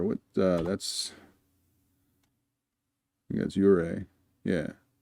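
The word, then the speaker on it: Ouray: That's I think that's Ure. Yeah. It looks like it should be spelled Are, but it's Ure. The O, I think, is silent. If I've got it right.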